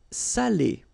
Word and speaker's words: salé: C'est salé.